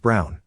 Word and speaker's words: Braun: She said why not, and I reminded her of the historical figure, Eva Braun, pronounced Brown, wife of probably one